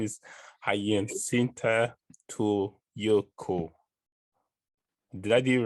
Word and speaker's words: Hyasintha Ntuyeko: Now I'm from Africa, I need to be able to pronounce African names. So It's Hyasintha Ntuyeko. Hyasintha Ntuyeko.